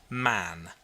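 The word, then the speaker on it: Mahon: white long beard and his name was mohan but he insisted that it should be pronounced man he was well connected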